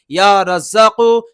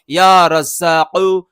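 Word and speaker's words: يا رزّاق: আমি আবারও বলছি ইয়া রাজ্জাকু, শেষে কফ আছে, আর এই কফ জিবের গোড়া থেকে উচ্চারণ হয় ইয়া রাজ্জাকু, ইয়া রাজ্জাকু।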